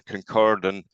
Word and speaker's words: Kincardine: The concept of floating, which we've already touched upon, is quite important, and I have a specific background on the Kincardine, roll your R's, project, which is the largest floating offshore wind farm in the world.